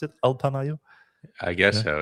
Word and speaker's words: Alpamayo: Alpamayo? I guess so. It's like alpaca and mayonnaise together.